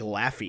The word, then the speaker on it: Laufey: I think is it Lafay? LaFu? They say it like Laffy. Laufey. Laufey. They say it like Laufey. Laufey. It's Laufey.